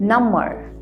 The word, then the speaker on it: number: तो नम्बर, याद रखिएगा, इसका स्पेलिंग एकदम सेम ही है, NUMBER, लेकिन यहाँ पे हम B का मतलब B हम साइलेंट पे रखें, नम्बर, ये होगा नंबर, हमें पता है ये नंबर।